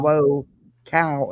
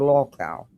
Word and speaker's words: lolcow: But this is Jonesin and apparently she's upset because nonsense did a live and is not pronouncing local right. She's saying low cow instead of law cow and Jonesen doesn't like it and it's really bothering her.